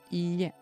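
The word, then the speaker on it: いいえ: Ie means house, which is only I, E. You also have twice the I and the E, and that means no, Ie. That's also why you pronounce it longer, Ie.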